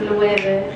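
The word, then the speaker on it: Loewe: How do I pronounce these trousers? Luebe.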